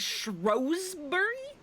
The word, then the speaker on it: Shrewsbury: Shrew Shrewsbury is pronounced as it is by locals. Non-locals pronounce it as Shrosbury.